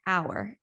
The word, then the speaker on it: hour: also an if it's a noun with a silent h so an hour not a hour now another thing is